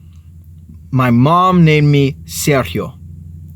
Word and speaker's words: Sergio: and of course if you write that out s e r g IO most of us pasty skinned white people would pronounce that Sergio right and one day at